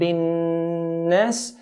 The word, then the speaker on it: النَّاس: So قُلْ أَعُوذُ بِرَبِّ النَّاسِ. So whenever noon or mim is pronounced, there's a nasalization, a sound from the nasal passage automatically comes with these 2 letters.